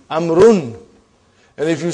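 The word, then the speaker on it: عمرو: Why do you have extra vowel? It is not read. It is not pronounced. It is only written. Why? Just to differentiate between these two. Actually, it is Amrun.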